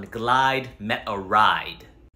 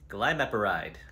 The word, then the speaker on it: glimepiride: one okay anything else I recently started on glide met a ride and what was that for diabetes glimepiride great what else I also have high blood